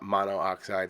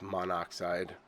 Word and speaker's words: monoxide: of pronounciation for example dichlorine monoxide it's not mono oxides it's monoxide or tetra phosphorus hex